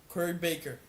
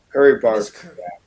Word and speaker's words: Barker: Is it Baker or Barker? I'm sorry. Let me Let me look it up. I think I might have said it wrong. Curry Barker.